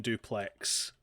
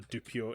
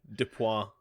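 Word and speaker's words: Dupieux: They had Flat this Beat by Quentin Duplex. That's a Dupio, not Duplex. Dupois.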